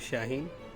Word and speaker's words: Shaheen: ] jokes Rehberg Anza my name is Shaheen and this rhymes with quarantine I don't okay so